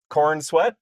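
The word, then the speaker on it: Corenswet: Through the through the Henry Caval years and now we're at uh in the David uh Korn Sweat uh era.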